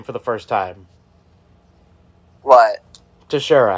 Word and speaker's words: Teixeira: It's pronounced Teixeira.